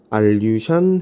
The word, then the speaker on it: 알류샨: 알류샨 해구 혹은 알류샨 열도, 이렇게 적으면 되겠습니다. 알류샨 해구, 알류샨 열도. 알류샨이라고도 할 수 있고 알류산이라고도 할 수 있습니다. 그 영어 발음이기 때문에 그렇습니다.